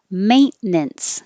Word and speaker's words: maintenance: solo solopreneur indispensable indispensable maintenance we just totally dropped this 10 in the middle maintenance brewery brewery boulevard